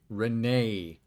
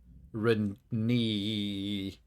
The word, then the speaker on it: Renee: Renee. Or Renee. Or Rennie. The last E is silent.